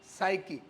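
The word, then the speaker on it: psyche: शब्द क्या है बेटा साकी साईकी और बड़ा विचित्र है कि पी भी साइलेंट है और देखो जो ग्रीक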